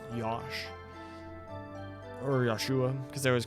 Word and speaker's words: Joshua: So they just spelled it Josh, but say it's supposed to be pronounced Yosh. Or Joshua, because they always call him Joshua.